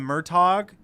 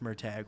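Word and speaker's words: Murtagh: gonna come out in November I called him murtog but apparently it's pronounced murtag which is just wrong but apparently I mean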